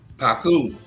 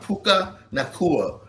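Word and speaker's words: Puka Nacua: Paku my man Nua Paku Nakua is is Puka Puka Nakua is a beast.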